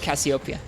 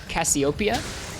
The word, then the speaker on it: Cassiopeia: Yep, I like Cassiopeia. I guess, how do you pronounce that? I always pronounce it Cassiopeia, but I think it's Cassiope.